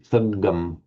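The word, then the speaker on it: saggaṃ: But with a much more distinctly held double consonant, sangam.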